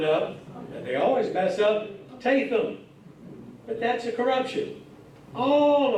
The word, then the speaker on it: Tatham: not people look at Ta and pronounce it oh look there's Tatum sorry it's not Tatum even though way back